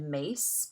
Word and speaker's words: Myss: Her name is said Mace, but it's spelled Myss, Carolyn Mace.